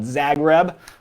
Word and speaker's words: Zagreb: but this is one of my favorite called zagreb or at least that's how i've always pronounced it z-a-g-r-e-b so i can show you